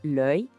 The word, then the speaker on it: l'œil: Agora, o singular de olho, l'œil. Essa aqui é uma daquelas palavras com uma pronúncia bem particular do francês. O som é quase como se a gente falasse oi bem rapidinho, sabe?